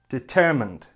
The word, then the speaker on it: determined: similar to the verb it has three syllables and the stress is on the second syllable the only difference is we have a D sound at the end so it should sound